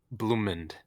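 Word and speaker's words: Blumund: Blumend, Bloomin'. I believe. Blumend. Yeah, Blumend. it's pronounced. Yeah, Oh, it's Blumend and like the color Iglesia.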